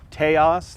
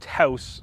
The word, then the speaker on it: Taos: It's pronounced Taos, like chaos. No, it's pronounced Taos, like house.